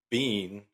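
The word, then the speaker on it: Biehn: was there and Michael bean I think his name is Bean that's how you pronounce it he was actually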